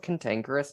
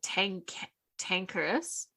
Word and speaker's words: cantankerous: Do you know what cantankerous means, Kirstyn? No. What is it? Tankerous? Tankerous. Cantankerous. Oh, there's a whole other fucking syllable in the front of that.